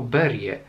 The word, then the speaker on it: Berge: Dowiedziałem się, że Berge czyta się jako Berie ostatnio, chyba słuchając podcastu Michała Nogasia w Radiu Książki.